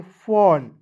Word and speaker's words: fawn: FAWN पढ़ेंगे फॉन, ठीक है।